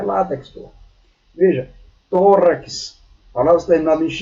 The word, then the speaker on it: látex: Em X, látex, que não se pronuncia latex, algumas pessoas pronunciam latex, mas é látex.